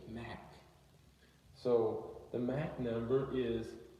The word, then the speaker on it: Mach: You have the black word, and it's pronounced M-A-H-K, Mach.